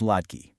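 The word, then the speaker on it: लड़की: Now for feminine nouns, you want to listen for a long e sound. One girl is ladki and a group of girls, ladkiyan. That e to eyan switch is your classic feminine pattern.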